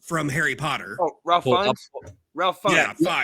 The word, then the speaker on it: Fiennes: Ralph Phineas, his brother, was in attendance. Ralph Phineas is a well-renowned actor. Voldemort from Harry Potter. Oh, Ralph Fiennes. Ralph Fiennes. Yeah, Fiennes. Yeah, that is how you pronounce it.